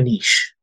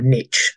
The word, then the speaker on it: niche: is you've got to pick a niche or a niche the Americans say and my Niche is